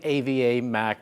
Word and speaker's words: AvaMac: It's pronounced AvaMac because it's based off of my business partner, Nuna Ferrara. His daughter's name's Ava, and my daughter's name's Mackenzie.